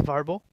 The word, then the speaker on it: Vrbo: what's that uh there's a website called vrbo pronounced as verbal okay yeah they're the